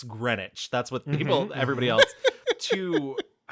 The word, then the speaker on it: Greenwich: It would be Ganzabort because that's how it's spelled. Um there's another town near me called Green Witch. Guess what? It's Greenwich.